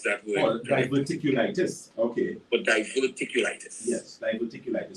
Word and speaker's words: diverticulitis: do you have for someone recently diagnosed with diverticulus if i pronounce that word diverticulitis okay but diverticulitis yes diverticulitis so diverticulitis quickly